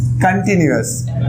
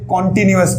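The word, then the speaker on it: continuous: कंटिन्यूअस, बहुत सारे लोग इसे कॉन्टिन्यूअस पढ़ते हैं। इसका प्रोनाउंसिएशन जी, इसका प्रोनाउंसिएशन कॉन्टिन्यूअस करते हैं। क्या होगा इसका सही प्रोनाउंसिएशन? कंटिन्यूअस जी।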